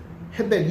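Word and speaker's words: הֶבֶל: 둘째 아들은 아벨이라고 이제 우리 개역 성경에 번역이 됐는데 이 단어는요 사실은 원어로 보면 헤벨이라는 뜻, 헤벨이라고 발음이 돼요. 그러니까 카인과 헤벨인데 우리 개역 성경이 가인과 아벨로 이렇게 번역을 했죠. 헤벨, 이 헤벨이라는 단어는요 무슨 뜻인가 하면 이 호흡이라는 뜻입니다.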